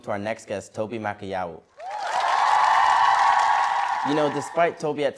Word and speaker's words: Makoyawo: I would say the best way to always pronounce my name is literally pronounced how it's spelled. Makoyawo.